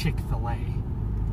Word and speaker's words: Chick-fil-A: So they didn't want to spell it Chick-fil-A, like filet, F-I-L-E-T, you know, like a hon, the French. And so they named it, they spelled it F-I-L-A, so it's Chick-fil-A.